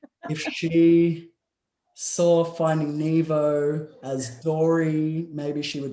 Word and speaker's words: Nevo: It's my name's pronounced Nevo, and people like say, oh, well, you know, I thought it was Nevo because of the book.